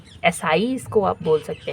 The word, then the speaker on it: essai: French word से लिया गया है, वहाँ पर स्पेलिंग ये है, एसाई इसको आप बोल सकते हैं।